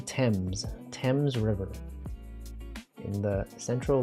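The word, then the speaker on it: Thames: You know, this is pronounced instead of themes. You might think it's themes. It's actually temps.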